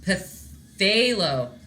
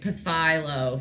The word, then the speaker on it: Phthalo: A silent P? Unacceptable. Silent letters are dumb. Okay. We are... No, not you. I've literally been calling it Pathylo for a very long... my whole life. To you guys, too. No one's corrected me. So I've just taught a million people it wrong.